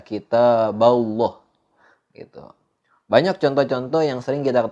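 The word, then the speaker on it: كتاب الله: belah tapi kitab Allahnya kita fokus ke-8 Allahnya itu dibaca tebal kitab Allah kitab Allah cara bacanya seperti itu nggak boleh dibaca atau salah ketika kita membaca lafadz Allahnya itu dibaca tipis kita bala kita bala itu Tapi harusnya dibaca kitab Allah banyak contoh-contoh yang sering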